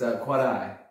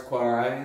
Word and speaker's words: Quarai: You can't roll your R's. Quarai is fine too. It's a Puebloan word that got sort of anglicized by the Spanish.